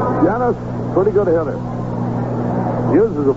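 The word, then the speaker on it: Llenas: here's winston winston jennifer saw with 2l alley is pronounced genus here's a pitch foul back one strike and nothing janice pretty good hitter uses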